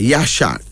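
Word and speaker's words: Yeshak: another middle name y-e-s h a k yashad this is the Ethiopian version of the Hebrew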